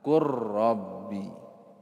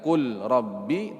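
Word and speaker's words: قُلْ رَبِّ: Bacanya gimana? Qur rabbi. Ya, bukan lagi qul rabbi tapi qur rabbi.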